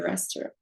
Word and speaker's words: restaurant: Au restaurant, there's a T at the end of restaurant, but it's silent.